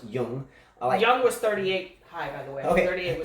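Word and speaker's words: Jung: young man Jim it's Ju and gee but pronounced young my young was 38 okay so this young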